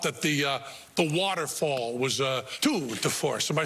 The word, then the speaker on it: tour de force: but we thought that the waterfall was a tour de force. Am I saying it right? Yeah. A tour de force.